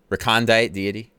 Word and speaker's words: recondite deity: Oh, recondite deity. Perfect pronunciation. Thanks.